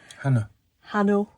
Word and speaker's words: Hanno: Hanno. Say it all, banana. No, that's how he pronounces his name.